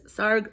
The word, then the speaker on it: Sarg: Yeah, it says Sarg rhymes with arg, so that's how you know.